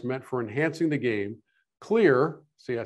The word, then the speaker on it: KLYR: KLYR, see, I said it right that time.